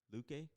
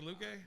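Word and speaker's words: Luque: uh versus uh vicente luke i think luke is the right way to say that i'm gonna take woodley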